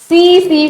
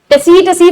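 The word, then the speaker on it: tsetse: silent है ठीक है टसी टसी फ्लाई मत बोलना इसको ठीक है ये सीसी फ्लाई होती है टी इसमें क्या है बेटा साइलेंट है ठीक है नेक्स्ट बेटा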